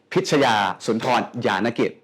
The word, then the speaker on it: Pichaya Soontornyanakij: Chef Pam Pichaya Soontornyanakij. Did I pronounce this right?